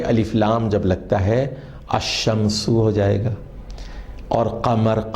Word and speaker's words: الشمس: لیکن ذرا غور فرمائیے، جب ہم تلفظ ادا کرتے ہیں تو لکھا ہوا ہوتا ہے الشمس، لیکن ہم اس کو پڑھتے ہیں الشمس۔ اس کے برخلاف القمر